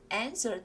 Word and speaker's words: answer: W가 있지만 발음이 되지는 않고요. answer the phone 이렇게 읽으시면 되겠습니다.